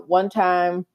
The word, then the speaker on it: 1TYM: Now, one time, they spell it with the number one and then a capital T YM, it is pronounced one time.